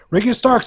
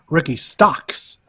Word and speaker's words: Ricky Starks: Or as Dear Mouse tries to call him, Ricky Stocks.